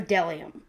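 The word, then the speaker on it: bdellium: B is for delium. We doubt anyone knows what delium is, but it's the only word dumb enough to begin with a silent B.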